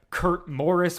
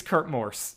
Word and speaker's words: Kurt Morse: be the case or it might just be everybody pronouncing his name weirdly but regardless it's Kurt Morse um it's the guy